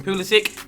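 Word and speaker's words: Kulusevski: in him and his tech me Rico Christian kulusuk that is how you say it Andre Gomes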